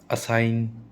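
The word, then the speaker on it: assign: साथ में आएंगे ना तो वो जी हमेशा साइलेंट रहेगा। कैसे रहेगा, रिज़ाइन, ठीक है, रिज़ाइन, ठीक है, ग नहीं बोलेंगे कभी भी। असाइन, कंपेन, कंपेइन, पैराडिम, ठीक है, पैराडाइम, पैराडिग्म नहीं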